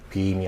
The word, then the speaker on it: beam: 소리가 이 발음이 길 뿐만 아니라 소리의 위치가 혀가 입천장에 상당히 영어에서 가장 높은 조음점, point of articulation을 가진 그러한 발음입니다. 그래서 beam이 아니라 beam 하고 소리가 위로 올라간 상태에서 길게 빼어지는 그러한 발음이죠.